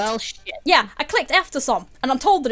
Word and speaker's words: eftersom: Eftersom? Yeah, eftersom. Like after, basically, but with an E, and then som.